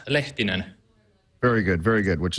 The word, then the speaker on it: Lehtinen: me how you say it so it's yonas letin very good very good which is something I'll